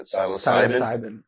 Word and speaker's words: psilocybin: And it's just like the tremendous benefits of, I can't pronounce the P word for mushrooms. What is it? Psilocybin?